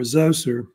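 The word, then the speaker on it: Djoser: to talk about the third Dynasty under king joser or Zoser as they say it also as well uh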